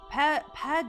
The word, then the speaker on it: pas: Because you don't say the S at the end of pas.